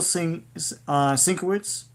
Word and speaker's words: Sienkiewicz: The cover art is Bill Sienkiewicz. Is that how you pronounce it? Sienkiewicz, yeah.